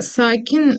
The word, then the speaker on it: sakin: Her şey parlak ve sakin. Her şey parlak ve sakin. Да, правильно. Сакин здесь как-то ударение на А, потому что это слово арабское. Обычно у нас ударение в конце слова на турецком языке.